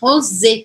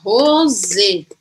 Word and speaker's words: rosé: O vinho é rosé, com acento no final. E aí, fato de ter o acento aqui no final, eu vou pronunciar o E. Então, muda tudo aqui, tá? Aqui eu vou falar rosé.